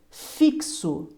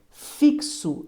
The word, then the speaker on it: fixo: Max e m o fixo cuidado fixo esse X tem som de KS lembra fixo essa palavra